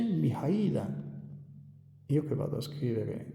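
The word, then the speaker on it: Mihăilă: E quindi si dice Mihaila.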